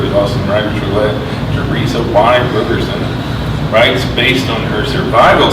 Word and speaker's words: Roberson: Yeah, I always pronounce it Roberson Yeah. to help people spell it, but a lot of my family says Roberson. Yeah, if you say Robertson, boy, I'm putting that to you.